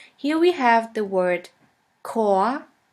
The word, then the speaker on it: Chor: In the German language, the words which normally start with the letter C is pronounced like the letter K. Here we have the word Chor, Chor, which means choir.